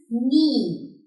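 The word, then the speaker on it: nie: This is knee. Knee means never. So that was all about the pronunciation, and then there are three simple rules.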